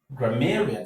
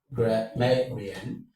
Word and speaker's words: grammarian: Grammarian. So this is where the stress falls on. So you have grammarian. This is what takes the stress. The stress falls on may because may is the penultimate syllable.